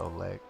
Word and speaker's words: Oleg: Here comes a shoot, trailing Oleg. That was a fun pronunciation. Like Olay, but Oleg. Come on, give it to me.